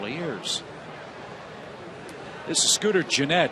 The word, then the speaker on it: Gennett: This is Scooter Gennett. I mispronounced his name earlier. My apologies, Scooter. It's Gennett.